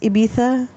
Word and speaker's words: Ibiza: Oh, it's pronounced Ibiza.